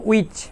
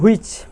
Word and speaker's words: which: যাই হোক, এরকম আরেকটি শব্দ হচ্ছে উইচ, WHICH, আমরা বলি হুইচ।